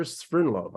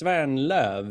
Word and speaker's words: Svernlöv: Stockholm County Sweden sprintlove I hope I pronounced your surname properly yeah almost on the money us it's van love in Swedish we're in love all